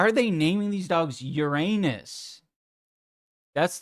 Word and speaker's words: Uranus: It's pronounced Uranus. Yeah, but it's funnier for me to say Uranus.